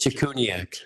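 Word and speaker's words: Cichuniak: think about it is it's pronounced the reverse of how it's spelled. So the C is a CH, and CH is a hard C. It's Chikuniak.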